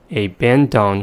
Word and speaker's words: abandon: So we have the word abandon, and we say abandon for spelling purpose. And the vowels in the first and the third syllables reduced to the first schwa sound because they're in the unstressed syllables.